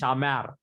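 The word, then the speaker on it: שָׁמַר: For example, here, one example I'm giving you here is Shamar. So that mar, which is in yellow, is the last syllable, which is to be stressed.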